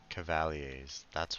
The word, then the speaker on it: cavalier: Cavalier. That's what it's pronounced. I was butchering that. Cavalier. Let's pronounce them the way I was cuz like cavalry Hurry.